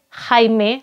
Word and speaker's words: Jaime: dari tangan orang-orang muslim dan raja haime tulisannya jaime ya teman-teman cuma di sini kan J dibacanya H haime primero ini karena dia